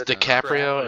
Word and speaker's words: DiCaprio: It's DiCaprio, and if you No. purposely mispronounce his name again, I will find where you live and I will hurt you.